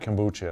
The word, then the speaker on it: kombucha: Well, for people who haven't tried, if you haven't tried kombucha, am I saying it right?